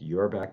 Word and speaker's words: Auerbach: my name is auerbach that's pronounced your back my back our back and i'm delighted to